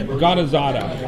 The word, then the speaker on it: Ghanizada: Ghanizada.